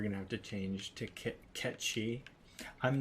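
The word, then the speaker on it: Cait Sith: pronounced Kate Sith. It's Kate Shi, pronounced Ketchi, Cat and Shi.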